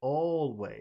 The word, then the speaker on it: always: Is it always or is it always? Which all, always, all, yeah, always, yeah. always. Okay, it's the first syllable.